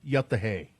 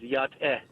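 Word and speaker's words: Yá'át'ééh: So the way that we say it to each other is yat-eh.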